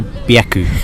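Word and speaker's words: 百: Why byaku, not sanhyaku?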